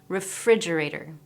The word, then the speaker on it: refrigerator: So if we look at the word refrigerator, we can see that there's an apostrophe just before fridge refrigerator.